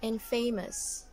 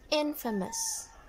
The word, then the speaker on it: infamous: this some of you would actually read that as and famous and famous am i right but it's wrong it should be infamous infamous how about this one